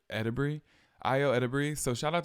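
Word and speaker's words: Edebiri: earlier it's IO and she said edur some people said edir but she says edur IO EDI so shout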